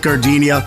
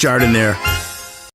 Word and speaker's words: Jardiniere: And guys, when you're at the counter, don't call it gardenia. It's pronounced Jardiniere.